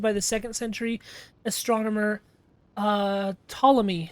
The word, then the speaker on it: Ptolemy: It is one of the 48 listed by the 2nd century astronomer Ptolemy, spelled with a silent P, I assume, and is one of the modern 88 constellations recognized by the International Astronomical Union.